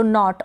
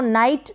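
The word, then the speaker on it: knit: फिर ये है निट, इसको नाइट ना पढ़ें, क्या पढ़ेंगे, निट पढ़ेंगे, नाइट नहीं पढ़ेंगे।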